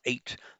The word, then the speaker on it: eight: So otota oto in Latin through the Germanic line the the we have in English used to be a we now just pronounce it as eight though we still retain the the gh and the spelling.